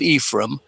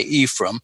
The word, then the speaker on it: Ephraim: The second book, after the Book of Ephraim, they always pronounce that name, by the way, Ephraim. It's not the good Hebrew. You were much closer to it with Ephraim.